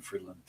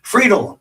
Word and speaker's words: Friedl: Fredel. I don't know why I keep saying Freeland. Fredel.